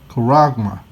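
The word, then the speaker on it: χάραγμα: This is in the Greek, and you pronounce that charagma.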